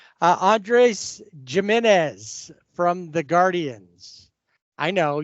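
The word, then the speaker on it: Giménez: No, it's not Jimenez. It's Jimenez. Yeah, if it was Jimenez, it would be an a J.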